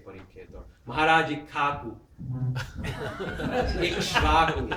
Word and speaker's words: Ikshvaku: Ikshvaku. Prabhupada used to say Ikhaku. Ikshvaku, because that's really Kashava, triple combination. So you just double the ka and drop the other syllables.